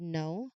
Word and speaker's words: know: You won't see a symbol for the silent K in the word know or silent P in receipt.